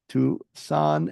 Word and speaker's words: Toussaint: So, I want you to go to uh their website or River's Spotify accounts, River Tusan. It's spelled T O SS A I N T.